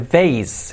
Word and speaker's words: vase: Se dice vase, escrito base. Vase. Como base que sería base, pero con V.